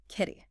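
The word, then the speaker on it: כלי: Okay, so let's unpack this crucial Hebrew word, keli. It's pronounced Keli, found as H3627 in the lexicon.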